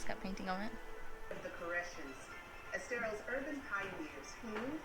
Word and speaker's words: Koreshan: And it's not Koreshan, it is Koreshan. I was saying it wrong the whole time.